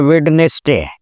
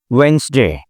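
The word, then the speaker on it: Wednesday: जैसे हम लोग आमतौर बोलते हैं वेडनेसडे, तो एक्चुअली इसका प्रोनाउंसिएशन क्या होना चाहिए? वेंसडे, साइलेंट हो जाता है।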